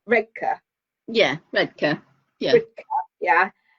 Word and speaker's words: Redcar: road from us, or to say it properly as a local, because you know Redcar is how I would say it as a southerner, but Redcar.